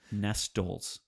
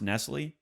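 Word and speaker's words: Nestlé: where you could get cookies she called it nest dolls not only not only mispronounced nestle nestle but then threw an s on that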